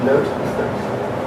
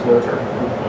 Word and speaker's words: Noether: Note. It's a joke because her name is pronounced Noether in German.